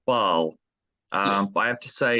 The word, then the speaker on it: Ba'al: But yeah, we've heard that it's sometimes pronounced Bale. Well, I think with the accent that we've got in the logo, it's yeah, supposed to be pronounced Bale, but right. we've always said Baal.